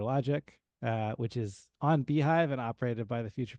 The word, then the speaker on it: beehiiv: before I introduce myself just want to point out beehive is spelled beeh i i v so if you're going to use that as a code you're going to want to spell it uh the way the company spells their name not the way that uh a bee would spell their hive I guess um so